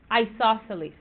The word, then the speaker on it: isosceles: uh oh wait hold on uh this is pronounced isosceles isosceles okay Oh cross this one out lightly